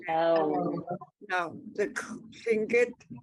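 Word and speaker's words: Lingít: but we call ourselves Lingit. Get Lingit. So you let that silent letter, the air, get, Lingit. yeah. Lingit. No, it's not Lingit. It's Lingit. That there's a tone mark on the last I.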